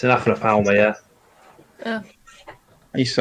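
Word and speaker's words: Aphanopelma: Aphanothelma? Aphanothelma, is that how you say it? It's an Aphanopalma, yeah.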